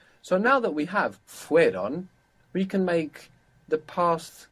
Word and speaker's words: fueron: add on Iran but we will find it very difficult to pronounce fuieron fueron so the e sound the I fell away so how would that